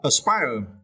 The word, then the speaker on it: aspire: The first word, aspire, it is verb, and you can see about the phonics, right? We need to stretch the second syllable. Spy, spire, right? Spy. Okay. Aspire.